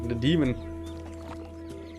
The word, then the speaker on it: Thedemxn: The demon. I always thought it was an X, the Thedemxn. But it makes more sense. I'm just pronouncing what I see.